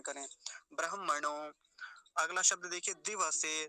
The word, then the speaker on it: दिवसे: अगला शब्द देखिए दिवसे, दिवसे नहीं बोलेंगे, वकार आधा नहीं होना चाहिए, पूरा ही रहना चाहिए, नहीं तो यहाँ भी गलत उच्चारण हो जाता है, दिवसे कह देते हैं।